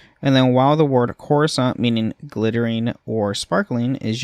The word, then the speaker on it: Coruscant: to say that uh with the second c being silent and the stress of the first syllable uh so corusant with more of an S than a C.